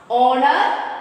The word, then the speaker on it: honor: So here H is silent. Then you should pronounce honor, honest, our.